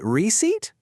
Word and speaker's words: receipt: Take a good look at re e c e i p t. How do you think you say that? Go on, say it out loud. Did you say receipt? If you did, you nailed it. What happened to the P? Absolutely nothing. It's totally silent.